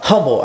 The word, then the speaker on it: Humble: you live oh uh humble I go well the H is silent so it's Humble Texas and I go and